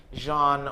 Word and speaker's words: genre: just want to ask is Jean like the 2024 way to say genre no that's actually the correct pronunciation that's the the correct